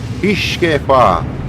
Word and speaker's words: Hirschkäfer: Хішкефашке, хішкефа. Так перекладається цей, вірніше читається цей танк.